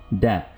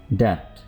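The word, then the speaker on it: debt: कर्ज, डेट। इसमें B pronounce नहीं करें, डेट।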